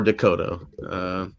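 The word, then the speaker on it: DeCoteau: A lot of people mispronounce his name too, but it's just Schmoller or Dakota.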